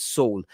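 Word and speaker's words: Süle: i think he said they pronounced saul right nick nicholas saul um very very talented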